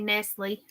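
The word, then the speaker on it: Nestlé: you pronounced it right as it means little nest in the United States we say Nestle that's insane it's funny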